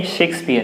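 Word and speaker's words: Shakespeare: मैं लिख लेता हूँ, शंकर वाला शेक्सपियर, ठीक है, आप लोग इसको शेक्सपियर बोल देते हो, तो सेक्स नहीं, ये शेक्सपियर है।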